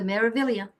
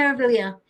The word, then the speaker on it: Meraviglia: It has a G in it, but it's not pronounced Meraviglia. We found out. We went on the Meraviglia. So we went on the Meraviglia, and that ship, the